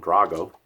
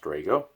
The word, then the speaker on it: Drago: or if you're a rocky Fanny and calm Drago but his name is actually pronounced Drago and here's Sadr home 3/7 Sadr home 1